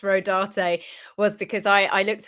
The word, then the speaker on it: Rodarte: The only reason why I know it's pronounced Rodarte was because I I looked up the designers.